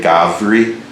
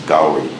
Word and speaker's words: Gauri: They will either say Gavri or Gauri, and the most common pronunciation is Gauri.